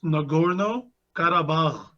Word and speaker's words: Nagorno-Karabakh: So, all right, you're gonna have to help me out with the pronunciation of this. It's the Nagorno-Karabakh War. Is that correct? It's Nagorno-Karabakh.